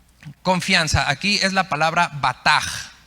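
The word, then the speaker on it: בטח: aquí es la palabra batag se escribe con b de bueno y Che al final la ch en hebreos suena como jota batak y significa apresurarse a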